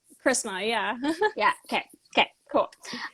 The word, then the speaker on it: Chrisma: you it's a little unique yeah yeah it's Christmas am I pronouncing it right Christmas yeah yeah okay okay cool um and congratulations